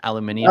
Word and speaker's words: aluminium: disappointed Clark that it's not the British spelling and pronunciation aluminium oh look at this